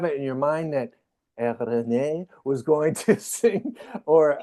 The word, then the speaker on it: Eirene: Eirene, sorry, I said Irene. I totally Americanized that. Sorry, Eirene. That's much more beautiful. Yeah. In Greek, I don't know if you know, I'm Greek, so it's in Greek. It's pronounced Eirene.